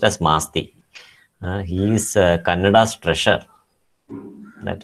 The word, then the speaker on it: Masti: as masti kannada nada asti his name is pronounced as masti he is kannada's treasure that is so precious